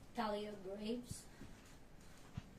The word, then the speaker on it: Thalia Graves: Do you want to pronounce your name? Thalia Graves.